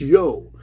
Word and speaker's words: Io: element in Asia Minor became IO the cow goddess pronounced yo and the Israelites were